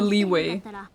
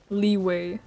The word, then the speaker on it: Liyue: The Leeway. I legally have to say it like Leeway because I know that Kuma's in chat. And she hates it when I do that. Leeway.